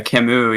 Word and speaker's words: Camus: was a hedonist albert khamist yeah yeah camus yeah okay yeah that doesn't look like chemist all those philosophers last